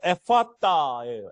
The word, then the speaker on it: 에바다: 에바다. 정확한 발음으로는 에파따예요. 에파따. 에파따.